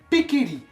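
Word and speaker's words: Pichelli: Le CH se prononce K. On dit Pikeli, comme Sarah Pikeli.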